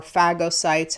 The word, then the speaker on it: phagocytes: so phagocytes are or phagocytes however you pronounce it I say it Faja because that means to eat in Greek so phagocytes surround